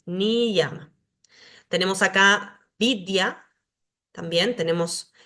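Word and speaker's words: niyama: Acá está la pronunciación la ya en el interior de una palabra se pronuncia como I como en ni llama acá vemos la palabra escrita ni llama y acá la pronunciación ni llama tenemos acá vidia también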